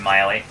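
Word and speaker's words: Maile: Well, they pronounce it Miley, but Yeah. she's not like Miley Cyrus.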